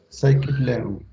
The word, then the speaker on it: Scikit-learn: Scikit-learn se escribe, se pronuncia Scikit-learn, así como aparece aquí escrito, pero Vale.